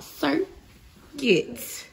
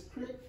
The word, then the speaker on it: Cricut: It is called Circuit. Circuit. C-R-I-C-U-T. Cricket. Circuit. Cricket. Yes. Then it's Cricket.